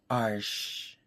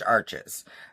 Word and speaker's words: Arches: It's actually pronounced Arches. But, I'm freaking American, so it's Arches.